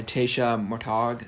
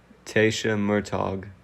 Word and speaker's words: Murtagh: on women's day by taysha mortag sorry i mispronounced that how would you pronounce that name what is it yeah tasha murtagh yeah yeah so that's how you pronounce i'm gonna quote her